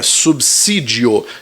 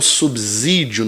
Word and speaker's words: subsídio: também letra é subsídio na forma correta é subsídio e não subsídio não com som de Z com som de subsídio resposta para essa letra